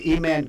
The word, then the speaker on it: Eman: This is one of those names I went to get pronunciation. Emontavious is the full name, but they said just call him Eman. That's what we call him. So Okay. Eman Garrison, number 9, was